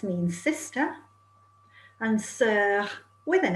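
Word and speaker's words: sœurs: s means sister and sir with an s means sisters but remember the s is silent okay right so you're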